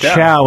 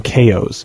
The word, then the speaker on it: Chao: The Chow from Sonic, the little weird animals, it's pronounced Chow in the game, but that's bullshit, so I call them KOs.